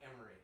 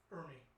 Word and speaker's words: Ermey: Lee Emery, yes. Okay. Ermey. Well, that's how it's spelled.